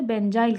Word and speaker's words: benzyl: इतने को कहते हैं, जब इतना लगा होता है उसे बेंजाइल कहते हैं। ये हमारा इसका प्रोडक्ट है, ठीक है। इसको क्या कहते हैं, इतने को बेंजाइल। ध्यान से देखना जरा स्पेलिंग, BENZYL बेंजाइल।